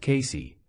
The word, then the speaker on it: Cayce: Casey, pronounced Casey, had the uncanny ability